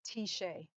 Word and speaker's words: Tyche: And so what I have learned is that there is a black ancient goddess that is called Tishe. And her name is spelled Tyche.